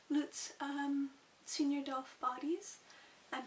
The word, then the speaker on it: Luts: different types of loots apparently that's how it's pronounced lutz um senor dolph bodies